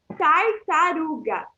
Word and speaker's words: tartaruga: Reparem que na primeira sílaba a gente tem tar. Na segunda sílaba pode até parecer que a gente tem tar de novo, mas não. A primeira é tar e a segunda tá, porque o R que tá ali vem depois, ele junta com o R.